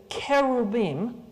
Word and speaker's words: cherubim: The I am is the masculine plural ending, so you don't need to add an S. An S is like saying geeses, right? Deers. It's just wrong.